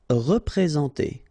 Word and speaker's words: représenter: Représenter. All right, remember that you get this N together, and then, well, it's a nasal, so it goes in your nose, and it's en.